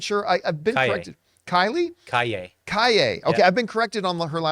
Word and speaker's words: Calle: Kaye. Okay, yeah. I've been corrected on her last name pronunciation several times.